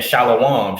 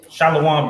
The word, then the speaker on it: Shalom: no shallow one right shallow one comes from the mispronunciation of a bastardized version of Shalom where a vowel was inserted with vowel points on the wa to make it a o so your oppressor says